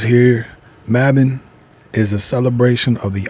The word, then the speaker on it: Mabon: Mabbin. That's how you say it.